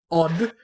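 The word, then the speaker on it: eau: And it's spelled E-A-U. Okay. Or no, wait, sure. It might be O. But like, right, it's like, actually I think it's O, but the pronunciation. But the point is, right, it's 3 letters that are pronounced as one.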